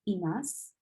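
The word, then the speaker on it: います: And remember, you don't need the su part. You don't need to really pronounce it. You don't need to emphasize it.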